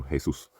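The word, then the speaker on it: Jesús: Jose and Jesus but a Spanish pronunciation for Jesus so Jesus um and obviously there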